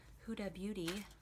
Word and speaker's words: Huda Beauty: I'm going to be using my Huda Beauty, finally said it right for the first time ever, and Santorini.